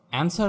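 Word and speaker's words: answer: Silent W, অ্যান্সার মানে উত্তর।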